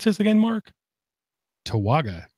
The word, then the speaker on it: Towaga: How would you pronounce this again, Mark? Towaga. Towaga.